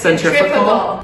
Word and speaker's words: centrifugal: It rhymes with centripetal, but it's centrifugal.